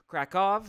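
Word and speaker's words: Kraków: for tuning in from krakov krakov right it's how the locals say it i do believe what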